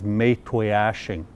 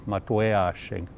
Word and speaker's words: Maytwayashing: It's been bastardized, and the way it's pronounced nowadays, and this is a direct result of the old Indian agents, is Maytwayashing. But the proper pronunciation is Maytwayashing.